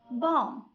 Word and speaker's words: bomb: بمعنى ملي كتجي B at the end of the word في نهاية الكلمة بالحق قبل منها كاين letter M, B is silent. An example: bomb, climb, thumb, lamb.